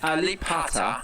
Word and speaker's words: Alibata: It is Ba. He's freaking out that he says Pa every time. It clearly is a B. It's Alibata, right? You pronounce a B like a P?